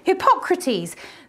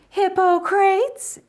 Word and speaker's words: Hippocrates: fatigue was i oh hippocrates there are different pronunciations hippo crates if you're an american and wrong hypogradies in a questionable greek accent but for today we'll stick with hippocrates because the womb was